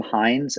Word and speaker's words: Hindes: And it was created by a graphic designer named Tim Hines, not spelled like Heinz ketchup, which is of course one of the great Pittsburgh companies, spelled Hindes.